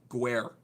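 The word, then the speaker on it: ger: I believe it's Guer, I think is how you pronounce it.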